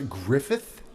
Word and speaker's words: Gruffudd: Gruffudd with two DS at the end is pronounced a Griffith Gruffudd yeah well with it